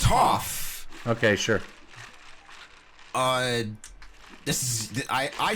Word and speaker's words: Toph: Stunned mispronunciation, disbelief aside. Which one is it? Is it Toph or Toph? It's Toph.